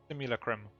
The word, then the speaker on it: Simulacrum: Simulacrum.